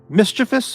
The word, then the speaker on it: mischievous: Yeah, but it's mischievous, I would say. Bold, but I don't mind people who say mischievous, because, you know, English, Brits say aluminium, not aluminum. So if Brits can say aluminium, then I think they can say mischievous, and that's fine, and it sounds cool.